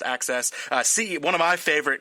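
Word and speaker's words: AXS: he's the stuff on access a excess but this pronounced access see one of my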